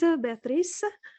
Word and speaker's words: Béatrice: pronounced your name right Beatrice my name is it's a French name I'm so sorry got